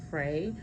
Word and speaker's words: Frey: So, um, his name is I'm going to pronounce it as Frey, but I've seen two spellings. So, Frey would be the f R E Y. And then I've seen it with the F R E Y R. So, you might see either or. I'm going to pronounce it as Frey because it's easier for me to pronounce.